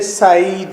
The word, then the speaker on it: Said: Edward साइड, दर हकीकत तो इसका नाम सईद ही है, जिस तरह के एक अरेबिक नेम सईद है। इंग्लिश पीपल इसे साइड कहते हैं, तो आप सईद भी कह सकते हैं, साइड भी कह सकते हैं।